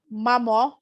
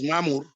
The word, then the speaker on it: Mamur: Mamo, I hope I am pronouncing this name correctly. Please correct me with the right pronunciation. Yes, it's Mamur.